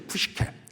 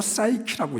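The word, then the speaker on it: ψυχή: 두 번째는 우리가 혼이라고 하는 건 푸식케해죠. 푸시케. 이걸 우리가 영어 발음으로 사이키라고 얘기를 하죠.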